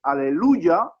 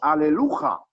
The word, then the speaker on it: aleluya: culto, digan todos aleluya, no decimos aleluja, porque el salmo que dice alaben a Ja es aleluya. Hay que pronunciarlo con una Y.